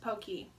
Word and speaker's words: Pocky: this exist so um this is pronounced pokey for all you Americans that have been calling it Pocky your whole lives it's pokey but I mean yes